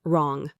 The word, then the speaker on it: wrong: Wrong. You only hear wrong.